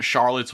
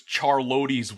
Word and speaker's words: Charlotte's: I had a similar thing with um Charlotte's Web. For a while, I thought it was Charlo's web.